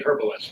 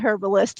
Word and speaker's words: herbalist: people this is a herbalist for sure I was trained by UK herbalist and they pronounce the h in England so it's just a